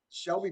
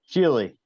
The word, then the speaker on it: Shealy: But the Shelby brothers, am I pronouncing that right, guys? Shealy.